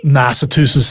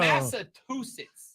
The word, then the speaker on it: Massachusetts: There is no T in the back end of Massachusetts.